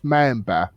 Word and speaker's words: Mäenpää: So it's Yeah, it's pronounced Mäenpää. Mäenpää. Yeah, a little longer in the end, but close enough.